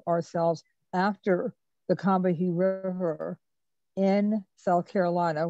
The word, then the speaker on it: Combahee: And we decided to name ourselves after the Combahee River in South Carolina, which is actually pronounced Cumby.